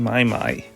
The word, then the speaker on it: Mai Mai: May May just May may with the power of May.